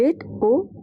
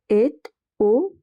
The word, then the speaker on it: est au: No, monsieur, il est au bureau. There is a liaison over here between A and O, so the T at the end is also pronounced. Il est au bureau.